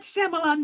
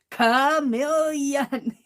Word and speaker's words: chameleon: If somebody catches you saying something that, like, I was mispronouncing the word chameleon. I was calling it Shyamalan. And boy, did I get corrected. It's not Shyamalan, Meri, it's chameleon.